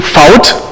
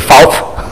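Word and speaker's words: Fauth: talk about that okay my name is Fout spelled with a heart T but I'm aware that English-speaking people are calling me Mr Pope and they're making jokes of it um what missed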